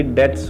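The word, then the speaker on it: debts: जो डेट्स को पे नहीं करता, ये डेब्ट्स नहीं होता, ये डेट्स होता है, बी इसमें साइलेंट रहता है।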